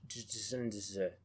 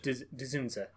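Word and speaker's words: Dzundza: George Desunda? Hold on. Ginger. Ginger? Yeah, that DZ kind of... Really? It doesn't really fit in Dzunza? any phonics that I've Dzunza? ever learned. Dzunza.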